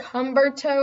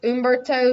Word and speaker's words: Humberto: it's it looks like Humberto or but I'm pretty sure it's Umberto so just for anyone that was wondering if I ever do say that this could be in Burton's I think the H is silent or just you know at the very beginning but anyway you can